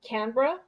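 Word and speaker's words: Canberra: capital city of um canra and it's not spelled like you say it it's spelled like canara and he made sure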